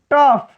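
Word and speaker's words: tough: यहां देखिए लिखा है जैसे RAU, देखिए ROU, यहाँ O है फिर यहाँ U है, OU के बाद आया है GH, तब हम इसका उच्चारण किससे करेंगे फ से, तो ये हो जाता है रफ, ये हो जाता है स्लफ।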